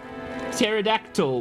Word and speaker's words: pterodactyl: Don't you know the T in skill is silent like pterodactyl? Wait, no. That the P is silent.